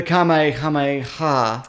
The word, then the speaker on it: Kamehameha: So to learn the kamehameha. Yeah, is that how you pronounce it? It's K. The first word's K, and then it's H and ha. So it's kamehameha.